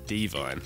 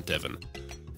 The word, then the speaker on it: Devine: pointed it out that it's john devine not John Devon so big apologies to